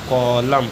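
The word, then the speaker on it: column: पढ़ेंगे ऑटम अगला है सीओ एल यू एम एन तो इसको पढ़ेंगे कॉलम एन साइलेंट है अगला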